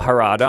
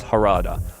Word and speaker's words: Harada: Market Tekken a game director uh harata I'm just going to say I'm I I'm really bad with names I butcher them but I'm I know it's harada harada was has responded to